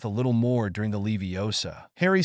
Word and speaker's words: Leviosa: you're saying it wrong it's Levi Osa not Lev osar hermion he said with